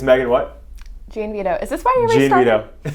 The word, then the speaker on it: Gianvito: But I always get confused because somebody said John Vito, and I was like, it's Gianvito. I think there's different ways to pronounce it, but we would just say Gianvito.